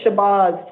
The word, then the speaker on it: Shabazz: You pronounce it Shabazz? I pronounce it Shabazz, but it's Shabazz. Well, it's your name, so I want to say Shabazz? It's Shabazz. Okay.